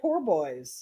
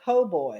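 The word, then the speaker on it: po' boy: I want to say poor boys. Yeah, But it's not. He said po boys. it's po boy.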